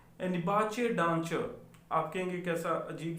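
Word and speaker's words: Nebuchadnezzar: इसको वो लिखते हैं नबूकत नज़र। ठीक है, इंग्लिश में जब आप बहुत लंबा सा इसका नाम है, अगर आप इसकी प्रोनाउंसिएशन चेक करें तो वो बोलते हैं निबाचे डांचर।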